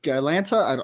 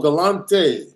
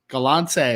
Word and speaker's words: Galante: to pronounce that, Lilo Galanta. I don't know. Yeah, that's Lilo Galante. Galante.